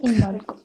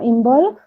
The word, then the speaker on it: Imbolc: El día de hoy vamos a hablar de una festividad muy especial llamada Imbolc. Involk. Sí. Que es Involk, o también se ha pronunciado como Involk, o la fiesta de la víspera de Brigitte.